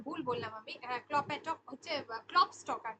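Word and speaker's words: Klopstock: হলো উইঙ্কলম্যান, তারপর সাহিত্যে হচ্ছে ক্লোপ্যাটক, ঠিক আছে। সাহিত্যে হচ্ছে ক্লোপ্যাটক। ক্লোপ্যাটক একজন বিখ্যাত রাইটার। ফ্রেডরিক গটলিয়েব, সরি এটা ভুল বললাম আমি, ক্লোপ্যাটক হচ্ছে ক্লপস্টক আর কি, এটাকে বাংলায় আমরা যেটা উচ্চারণ করি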